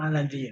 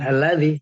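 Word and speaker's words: الذي: Itu bacanya alladzi ya, bukan Alladzi. Bukan diganti.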